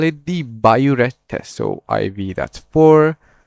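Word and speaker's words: biuret: You call it the bioret test. So IV that's for the B not boret. This is a very common misconception. Okay. Don't say bored test.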